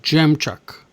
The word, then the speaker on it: jam chuck: together another jump truck it's actually pronounced Jam Chuck not Jack Jam like you eat lucky gems the the same